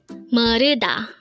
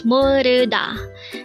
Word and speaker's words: 모르다: Moruda. Again, it's moruda. This is pronounced as a 3-syllable word.